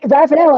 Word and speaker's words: Ravenel: It's funny because my last name is spelled in such a way that my English pronunciation guides, Ravenel is how it's spelled and how it should be pronounced. Mm-hmm. It's only Ravenel because people see the word raven in it and they made that assumption.